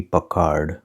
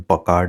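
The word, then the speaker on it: Packard: उसमें से एक है 1938 की पकार्ड और दूसरी है 1947 की कैडिलैक। सॉरी, इस कार ब्रांड का प्रोनाउंसिएशन पकार्ड नहीं, पैकर्ड है।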